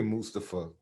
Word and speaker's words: Mustafa: Yeah, Mustafa. That's how he pronounces it.